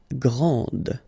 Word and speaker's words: grand: exactly the same thing this final D is not pronounced okay so GR and then the feminine form Grand okay so you put this and then you get the sound d d Grand okay and then we've